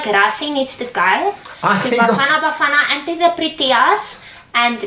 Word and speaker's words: Bafana: Banana, they did well. They beat Namibia 3-0. Is that how it's said? I thought it's banana. No, Bafana.